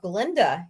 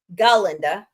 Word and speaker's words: Galinda: She originated the role of Glenda in the musical Wicked. Galinda, got to say it right, was often seen on